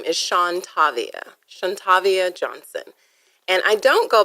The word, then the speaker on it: Shantavia: okay, so the Shawn is SHAWN. Okay. And then the Tavia is TAVIYA. Shawn Tavia.